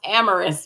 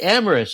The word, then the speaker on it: Amaris: to the show hello my name is pronounced Amorous by the way I know a lot of people make that mistake but it's okay oh like loving almost yeah yeah yeah yes right amoris okay I love that